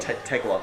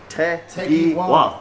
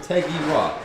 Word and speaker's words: Tegiwa: How do you pronounce Tegiwa? Tegwa. Is it Tegwa or Tegiwa? Tegiwa. Oh, Tegiwa. That's how you pronounce it, Tegiwa.